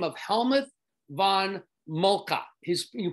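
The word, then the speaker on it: Helmuth von Moltke: commander is a gentleman by the name of helmuth von mulcah his you pronounce his vein and his name excuse me von mulcah that's how you pronounce it and we want to always associate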